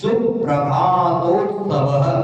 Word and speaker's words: सुप्रभातोत्सव: प्रसरताम प्रसरताम प्रसरताम में सुप्रभातोत्सवः सुप्रभातोत्सवः। देखो ध्यान देना है दीर्घ ह्रस्व का, सु दीर्घ नहीं करना है।